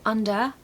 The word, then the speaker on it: under: as the other point the ER on the end of under and whether is going to be a schwa sound so under weather not under and